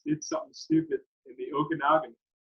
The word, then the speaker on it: Okanagan: the canadian kids did something stupid in the okanagan pronunciation you like that james i practice that for